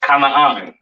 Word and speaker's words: Canaan: This is pronounced Kanaan, all right?